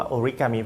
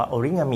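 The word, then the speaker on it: 折り紙: อ่า เหตุ ที่ เรียก ว่า โอริกามิ เพราะ ว่า หลาย ๆ ประเทศ ไม่ มี เสียง ง งู หรือ งาม นั่น เอง แต่ จริง ๆ แล้ว ถ้า เกิด ว่า เป็น อริจินอล ที่ ประเทศ ญี่ปุ่น เนี่ย จะ ออก เสียง ว่า โอริงามิ นะ ครับ ซึ่ง โอริ ก็ แปล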